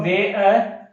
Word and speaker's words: wear: ठीक है, जैसे एक तो ये हो गया WEAR, इसका उच्चारण होगा वे।